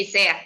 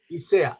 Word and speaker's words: Ysea: por no saberme los nombres de memoria Nadia isea o no sé cómo se pronuncia tu nombre Nadia Sí isea iscea isea buenos días cómo están buenos días también de